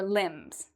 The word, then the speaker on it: limbs: same thing as your limbs. Now, do we pronounce the B here? If you said no, you are correct, because as you can see, there is an M, so we don't pronounce the B.